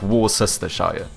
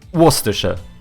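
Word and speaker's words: Worcestershire: time cuz this you any normal person would look at this and go yeah this is obviously going to be like War sest Shire right no cuz this is in the UK so it's going to be like waser waser right you did it perfect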